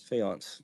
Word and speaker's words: faience: Very cool elephant, Delft elephant or faience. Faience.